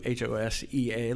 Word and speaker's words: Hosea: name is hosi blue H osea like the biblical Hosea but we all pronounce it hos E and that's just the